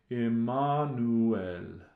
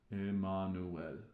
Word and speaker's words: Emmanuel: When we sing, O come, Emmanuel, the Latin pronunciation is a little different. Emmanuel, Emmanuel.